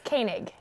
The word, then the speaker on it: Koenig: common theme I like asking people how to pronounce their last names yeah go ahead it's Koenig okay okay so I have here from fresh shape media Denver's very own